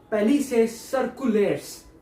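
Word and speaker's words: plicae circulares: Spelling थोड़ा अजीब सा है पर मैं आपको प्रोनाउंसिएशन बता दूंगा। इट इज पेलिसे सर्कुलेट्स, पेलिसे सर्कुलेट्स।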